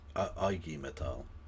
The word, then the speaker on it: IG Metall: Well, you should know it's pronounced IG Metall.